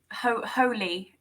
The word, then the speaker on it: Hole: Holy. Maybe that's the pronunciation of Harry. Oh, yes, Hole. I think that's right. Yes. Harry Holy. Harry Holy, yes.